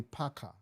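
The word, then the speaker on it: PACCAR: Peterbilt ni Packard. P-A-C-C-A-R. Kama Packard.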